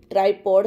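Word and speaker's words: tripod: उसके साथ ही आपको एक ट्रिपॉड स्टैंड चाहिए, ट्राइपॉड स्टैंड, करेक्ट प्रोनाउंसिएशन करेंगे।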